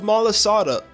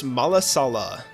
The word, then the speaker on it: malasada: There are mounds of malasada, I said it right, waiting for you. Join us to enjoy some marvelous malasala.